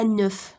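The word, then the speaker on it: un œuf: ملي كيكون غير بيضه وحده كنقولوا ان نوف.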